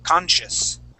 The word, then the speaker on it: conscious: that sh or sorry that s c in the middle of the word with that I that's going to make an sh sound we say conscious conscious okay we're gonna say sh conscious conscious consious all right